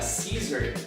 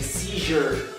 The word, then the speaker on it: seizure: Eu tinha falado uma palavra e tinha dito que a pronúncia dela era scissor, como se fosse de tesoura, mas na verdade não é isso, é seizure.